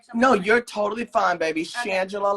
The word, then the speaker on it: Shangela: you're totally fine baby shangela like angela with an sh shandong sanjay look see